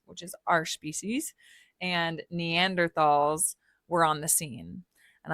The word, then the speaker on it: Neanderthal: is our species, and Neanderthals were on the scene. And I want to point out, I know that it is pronounced Neanderthal. That's the technical pronunciation for Neanderthal. It's Neanderthal.